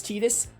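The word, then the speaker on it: Tidus: a whole controversy about how you pronounce titus's name i know people say titus i know it's tedious i'm fully aware it's tedious from all the pieces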